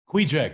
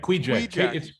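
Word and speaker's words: Kvichak: compound uh on the the way jack river quija quija it's spelled k-v-i-c-h-a-k you're not doing any ruby ridge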